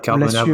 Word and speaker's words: Carbonable: Donc, dis Carbonable, excuse-moi, je le dis à l'anglaise, mais faut peut-être dire Carbonable en français.